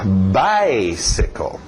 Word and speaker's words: bicycle: Aí, último objeto, bicycle. Importante bater no by.